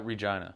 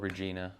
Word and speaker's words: Regina: and what city uh Regina Regina okay it should be called Regina but you know that's how they say it and you've made like